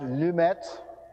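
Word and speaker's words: Lemaître: biopic overview of George lametra so first of all he was a Belgian uh his native language was French his last name is approximately pronounced lumet uh I'm not going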